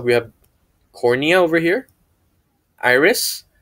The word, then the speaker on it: iris: Iris, not Mr. Harris, this is iris.